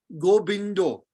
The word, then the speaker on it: Govinda: bought or keyboard so Bengali means the uh immediately becomes oh in general uh is pronounced as o so if Bengali was a keyboard on the V the v in Bengali becomes ba so if you say Govinda in Bengal gobindo we say Govinda in in in in uh in Bengali gobindo so it's a slightly different